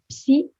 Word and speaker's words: psy: Make sure you pronounce the P in French. Un psy, une psy, mon psychologue.